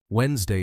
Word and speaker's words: Wednesday: Wednesday is one of them. The D is silent and the ne is reduced.